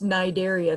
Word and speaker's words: Cnidaria: like sponges it's pronounced nidaria that c is silent and so cnidarians include